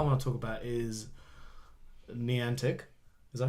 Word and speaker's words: Niantic: But the first thing I want to talk about is Niantic. Is that how you say it? Niantic?